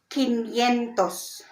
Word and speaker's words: quinientos: two then cuatro sientos now 500 will have a different pronunciation the reason why is it was adopted from the original latin language so 500 is quinientos again that's that's 500.